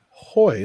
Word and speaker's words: Hoy: that you say his name as Hoy, like Chips.